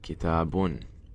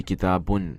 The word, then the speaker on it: kitabun: And kitab is kitabun. That's by default. When somebody says, hey, how do you say book in Arabic? You don't say kitab, you say kitabun, right? That's the proper Arabic way of saying it.